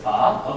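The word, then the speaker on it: phở: They usually call it like pho. It has a different meaning. Pho is like the prostitute. Prostitute. Okay, so you don't worry. Okay, so the correct pronunciation is pho.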